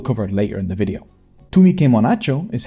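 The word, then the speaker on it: তুমি কেমন আছো: Tumi ke monacho is how you ask someone how they're doing in Bengali, and donobad is how you say thank you.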